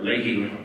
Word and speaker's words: Leahy: In 2015, March of 2015, I was invited to Vermont by Senator Patrick Leahy, or Leahy, this is how you say it in the States, the senior Democratic senator, because he was having his second environmental summit in Burlington.